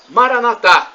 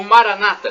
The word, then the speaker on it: Maranata: E do aramaico eu clamo Maranatá, como dizemos nós católicos. Ou Maranata, com a tônica na penúltima sílaba, como dizem os nossos irmãos separados, os evangélicos ou protestantes.